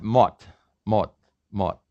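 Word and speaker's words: 멋: pronounce this for me the s in the final position is pronounced like a t this is one of these tricks and this is pronounced mot and koreans like to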